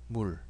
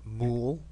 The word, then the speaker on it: 물: 물. It's not mool, not mool, like you would say pool in English.